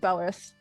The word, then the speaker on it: Beltreth: No, it does say Beltreth, but I pronounce it as like Belrith.